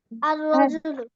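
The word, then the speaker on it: الرجل: আসে উচ্চারণটা কেমন হবে আর রজুলু আর রজুলু সবাই বলো আর রজুলু অর্থ কিলু সাম্মে লামটা কি উচ্চারণ হচ্ছে নাকি হচ্ছে না হচ্ছে না হচ্ছে না নাম্বার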